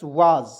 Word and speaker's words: was: देखिएगा WAS, वाज। देखिएगा WA का प्रयोग वा के रूप में, एस का उच्चारण जा के रूप में करेंगे, हो जाएगा वाज।